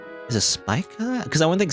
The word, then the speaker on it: Spica: I keep saying. I don't know if I'm saying it right. Spissa. Spissa? Spica. Spica? Is that how you're supposed to say? Spica? Spica.